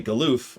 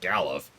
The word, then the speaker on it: Galuf: Which I used to say Galoof, or Galoof, excuse me, sorry, I said Galoof, there we go. And I'm still in the process of trying to change that, because this game, the one I'm playing right now, pronounces it Galuf, which I'm still trying to get used to.